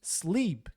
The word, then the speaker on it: sleep: Olha só, eat, tem o EA, a gente fala I, e também temos sleep, tem dois E's. Então, EA, E. Em inglês se pronuncia I, é um I longo, não é E, é I, sorrindo assim.